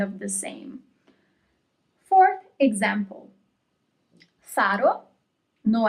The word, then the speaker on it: faro: Faro, no accent, faro, and the word with the accent is farò. Faro, farò. The first word without the accent means lighthouse.